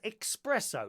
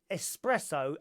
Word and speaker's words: espresso: 83 years old dear she pronounces espresso as expresso now how many of you do that how many of you pronounce espresso as expresso I do